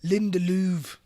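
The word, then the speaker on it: Lindelöf: that was a shock it's actually pronounced linda louvre okay is it actually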